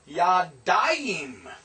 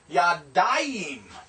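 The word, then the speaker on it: יָדַיִם: The dual is yadayim, yod, comets, dalet, patak, yod, hirek, and final mem, yadayim.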